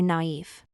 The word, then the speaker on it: knife: practice yes the word knife here too the K is silent and we say naive this is such a